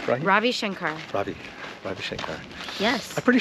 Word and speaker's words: Ravi Shankar: that your father is Rajiv Shankar did I say that right Ravi Ravi no I ever I have an Indian friend who's named oh okay they spell it the same way different guy so how do you say it Ravi Shankar Ravi Shankar yes I'm